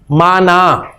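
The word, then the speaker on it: معنى: असल इसकी प्रोनाउंसिएशन है जी माना।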